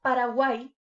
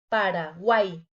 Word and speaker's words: Paraguay: Paraguay. Aquí se forma otro triptongo y como dijimos anteriormente, debe de quedar junta en una sola sílaba. Paraguay. El oído también me lo dice. Paraguay.